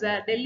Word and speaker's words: del: Here del is an ampla symbol, or written as del is written as a upside down triangle. We pronounce as a del.